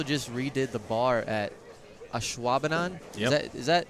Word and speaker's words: Ashwaubenon: They also just redid the bar at Ashwaubenon. Yep. Is that That's exactly how you say it. You did it great. Ashwaubenon? Yep. You kind of have to say it fast.